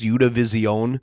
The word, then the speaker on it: Univision: Univision uh team together by the way it's pronounced you division but I'm gonna say Univision like a white um how would you